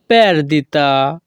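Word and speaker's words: perdita: নেই নেসুনা পের দিতা এখানে পিই আর এর উচ্চারণ হবে প্যার যখনই আমরা ইতালিয়ান ভাষায় কাউকে বলতে চাইবো লস নেই তখন আমাদেরকে বলতে হবে নেসুনা পের দিতা কোন তথ্য নেই নেসুনা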